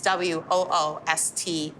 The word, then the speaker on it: Worcester: It really ends, it's Woostah, Worcester. Worcester.